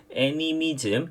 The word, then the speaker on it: 애니미즘: 발음 잘해야 되죠. 애미로 하면 아주 이상해집니다. 애니미즘.